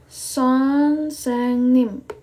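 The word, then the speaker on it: 선생님: ya bahasa e Koreanya jadi ini adalah huruf s o n kebiasaan jadinya s o n seng NIM Oke sonseng NIM sonsenim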